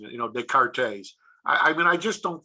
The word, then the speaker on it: Descartes: silent i would say descartes the cartes yeah i'm pretty sure that the s is silent i'm not professional or